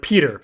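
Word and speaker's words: Petyr: we're gonna or like peter peter is probably the big one right peter baelish right we say peter because peter is a real name but roy de tris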